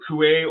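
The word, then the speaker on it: Coué: so he says when Emil Kuai or coup depending on tomato tomato who you are and where you are different people pronounce it differently when he came to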